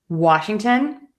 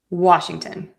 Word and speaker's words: Washington: Often times when we have a place name that ends with T O N, we are going to pronounce it as ton.